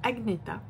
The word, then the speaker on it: Agneta: Alors, ça s'écrit Agneta, mais là-bas, ça se dit Agneta, qui est une riche héritière du domaine de Lovenov.